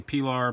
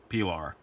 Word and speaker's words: Pilar: Pronunciation clarification: some people say Pilar, some people say Pilar. I say Pilar because it was named after the name of